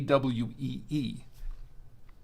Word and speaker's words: cuy: and uh and I that's where I found out was pronounced que kwe okay what qu is